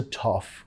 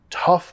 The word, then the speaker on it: tough: That's a tough call. Tough parece difícil de pronunciar, muchos vocales ahí, pero solo el sonido a.